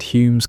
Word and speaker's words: Hume: David Hume was born on April 26th, 1711. Though for most of his life he spelled his family name home pronounced the same way.